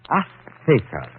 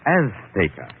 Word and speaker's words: Azteca: Azteca. She gave the Z a TH sound. That's Castilian Spanish. Mexican or any Spanish American would say Azteca.